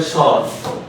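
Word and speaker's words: স্বর: তাহলে বফলা উচ্চারণের যে পাঁচটা নিয়ম আছে শব্দের শুরুতে বফলা থাকলে ব উচ্চারিত হয় না। যেমন হচ্ছে ধরেন সর। এইযে সর নিচে ব আছে র আছে। আমরা সব বর বলি না। ঠিক আছে? আমরা ডিরেক্ট বলি সর।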